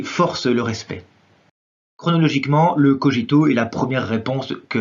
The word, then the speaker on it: cogito: Alors je dis cogito, mais la prononciation a deux conventions, on pourrait tout à fait dire également cogito.